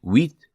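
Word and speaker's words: huit: Eight wheat.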